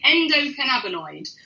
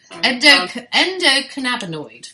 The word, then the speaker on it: endocannabinoid: Endocannabinoid. Endocannabinoid.